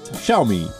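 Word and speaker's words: Xiaomi: zo me shall we the correct pronunciation is show me Asus it's ashes hey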